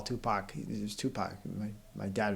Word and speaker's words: Tupac: strange it's rep no it's his name it's Tupac it's just phonetically spelled so we called him